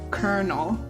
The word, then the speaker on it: colonel: Yeah, those two words, swap, are both pronounced colonel.